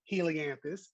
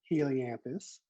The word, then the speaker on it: Helianthus: So this one, I say Helianthus. You say Helianthus. Helianthus.